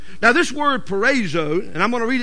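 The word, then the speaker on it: peirazo: o p e i r a z o pronounced perzo now this word perzo and I'm going to read it two or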